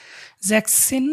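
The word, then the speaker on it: sechzehn: ছয় আর এখানে জ্যাক্সসিন এখানে এসটা আসবে না এসটা বাদে আসবে এটা একটু এক্সেপশন আমি স্টার্ট দিয়ে রাখছি দেখেন জ্যাক্সিন মানে হচ্ছে জ্যাক্সিন মানে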